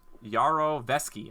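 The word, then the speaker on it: Yarovesky: how you say his name that's the that's yarrow feschi I'm sorry about that that was the director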